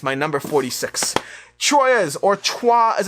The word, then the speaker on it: Troyes: troyes or trois as it's more accurately called but i always